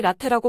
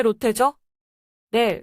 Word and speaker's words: 롯데: 팀의 미국 스타 선수입니다 제가 발음을 제대로 했기를 바랍니다 왜냐면 많은 사람들이 라테라고 발음하거든요 근데 로테죠네 롯데가 맞습니다 이게 완전 신기한 행보가 된